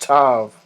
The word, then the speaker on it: tav: It's pronounced tav, and it's a sign of exemptment for judgment.